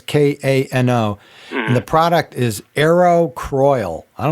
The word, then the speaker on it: Kano: It's called it's made by a company called I think it's pronounced Kano. It's Kano, and the product is Aerocroil.